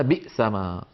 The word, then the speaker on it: بئسما: ان كانت الهمزه مكسوره بئسما بئسما بئسما كانت تكتب بيسما كما نرى وانظروا الان عندما نكبر اللوحه المخطوطه كيف صارت بيسما فكانوا يكتبونها بيسما وينطقونها بئسما هذا ان كانت ساكنه